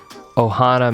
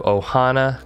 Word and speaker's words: ohana: bar dot com and check out their selection ohana means family and it is spelled o-h-a-n-a and kava is spelled k-a-v-a you